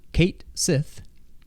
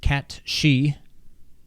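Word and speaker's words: Cait Sith: always thought was called Kate Sith cait s-i-t-h but apparently it's pronounced cat she I don't know what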